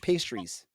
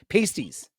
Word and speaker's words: pasties: uh buffalo wings or Cornish pastries or sorry pasties pasties Cornish pasties pasties I got to say it right I apologize I apologize